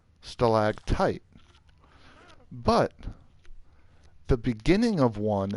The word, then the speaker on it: stalactite: So it is stalactite, stalagmite. Not many people know about that. Everyone knows that there's a difference, M and T. I don't think people know that the first like syllable is like different.